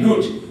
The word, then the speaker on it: Nut: Now, ancient Egypt snobs sometimes pronounce her name Nut, but I'm going to stick with the pronunciation that's more fun. This is a fun presentation. Okay, so Nut was a sky goddess, and she was married